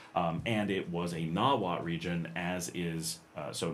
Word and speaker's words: Nawat: Um, and it was a Nawat region as is. Uh, so nawat here, n a w a t.